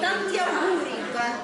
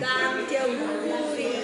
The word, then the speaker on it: Tanti auguri: Tanti auguri. Can you say that again? I'm filming. Tanti auguri. Tanta auguri.